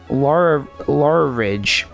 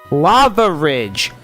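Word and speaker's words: Lavaridge: Lava Ridge. It's Lava Ridge. I've been trying to figure out like how to pronounce it the entire time. It's Lava Ridge. L A V A Ridge, not Lava.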